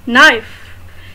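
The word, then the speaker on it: knife: नाइफ, इसमें भी के प्रोनाउंस नहीं है।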